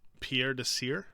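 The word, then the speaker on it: Pierre Desir: happens to russell um pierre de sir i think is how you say it he's a corner uh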